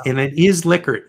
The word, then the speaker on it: Likert: Rensis Likert, the guy who invented the Likert scale. And it's and it is Likert, not Likert.